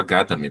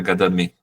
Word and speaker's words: Gadamer: Eu confesso que eu não sabia como se pronunciava Gadamer, para mim era Gadamé.